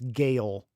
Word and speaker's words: Gale: Don't tell me it's pronounced jail. It does not look like jail. It's Gale.